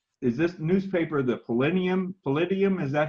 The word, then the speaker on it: Palladium: Palladium, is that how it's pronounced? It's Palladium Item.